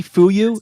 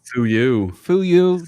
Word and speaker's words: Fuyu: ] you japanese whiskey fuyu actually it's it's pronounced who you japanese whiskey small batch